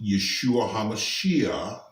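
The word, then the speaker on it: ישוע המשיח: learned it but his name in Hebrew is pronounced Yeshua hamashiach or Yeshua hamashiach people from that area usually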